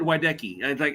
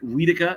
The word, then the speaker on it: Wiedeke: It is Wiedeke. It is not Wiedeke. It is not anything along those lines.